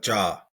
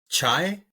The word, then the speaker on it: cha: Cha to us Indian folks is tea. Beautiful. So often pronounced chai in North America. I've seen Starbucks, they bust out the chai, C-H-A-I. Yeah. But to Punjabi folks, it's cha, C-H-A.